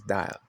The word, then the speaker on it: dial: The third is dial, I-A, 2 vowel letters. You make use of the first one, and the second is silent. That's why it's dial, right?